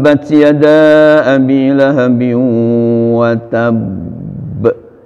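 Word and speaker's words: وَتَبَّ: ada di ilhami Ungu watab watab ini jangan wattab itu salah nah termasuk yg labil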